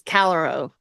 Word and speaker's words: Callirhoe: Calliope is Calero. It was what I had looked up. Oh, Calero. Mhm. Okay, because I was calling it Calero. Ho, as in clearly that's a hoe. Calero.